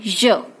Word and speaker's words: je: Then the answer is, answer will be given in je. It's not z, it's not je, it's je.